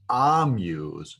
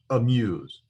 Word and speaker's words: amuse: when i pronounced muse i shortened the a sound where it almost sounds like a u sound so that's the whole